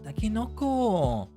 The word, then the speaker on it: タケノコ: Ah, takenoko. Now I know how they say it in Dobutsu no Mori.